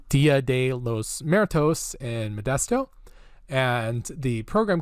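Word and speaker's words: Día de los Muertos: my favorites we have the Dia de los more toasts which I think I've just mispronounced dia de los muertos in Modesto and the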